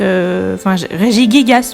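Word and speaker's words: Régigigas: est aussi régis gasse régis gay gas puisque c'est comme ça qu'il faut le prononcer apparemment pour le niveau le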